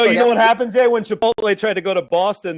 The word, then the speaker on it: Chipotle: guess i guess it's someone's correcting me that I've mispronounced your polti I don't eat there so I always mispronounce it luckily but wait what is your problem this is what shirt somewhat someone's chipotle not your Polti my bad yeah I